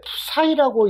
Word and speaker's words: PSI: PSA PSIA 해 가지고 요거는 읽을 때 프사이라고 읽으면 될 거 같아요.